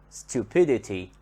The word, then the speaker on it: stupidity: is at the beginning when we add the suffix ity stupidity stupidity we notice that the stress here comes on the syllable that is before the suffix stupidity and now the